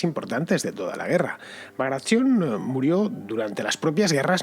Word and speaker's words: Bagration: Este general era Piotr Ivanovich Bagration, o pronunciado en ruso creo que dicen Bagration, una cosa así.